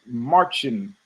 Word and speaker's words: Marcin: So Marcin, apparently his name is pronounced Marcin. I want to say marching like marching, but there's a I'm still mispronouncing it, but Marcin, not Marcin. So it's a CH sound.